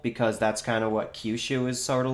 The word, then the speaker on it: Kyushu: think is based off of Japan's southern island Kyushu, I want to say it's pronounced. Apologies, I am not a native Japanese speaker. How's it spelled in English? Kyushu, Kyushu, I want to say it's pronounced.